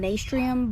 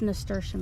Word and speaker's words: nasturtium: Some people call them nastrium, but I don't know. It's nasturtium as far as I know, but whatever makes you happy when it comes to pronouncing things.